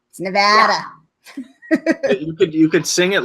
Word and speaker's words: Nevada: you say it because I used to say Nevada it's no bad Nevada you could sing it